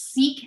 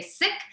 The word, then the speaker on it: Sikh: sharing today you'll often hear sikh and sikhism pronounced as seek and sikhism this is not the correct pronunciation in the sick community we say sick and sickism and in fact you can even